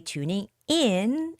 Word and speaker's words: tuning in: tuning in okay so when we see a phrasal verb normally the stress is on the adverb not the verb right so it's got to be tuning in and you have to say the word in a little bit stronger to daily weather updates